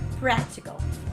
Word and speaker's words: practical: fifth fifty rather is practical practical is stressed on the first syllable so say practical not